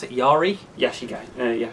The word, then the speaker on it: yari: look cheap Yara gosh II yah how to pronounce it yari yes you go oh yeah she Gary oh